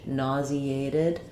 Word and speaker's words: nauseated: nausea um but then when we go to nauseated um we change nauseated and this J becomes a z sound so then we have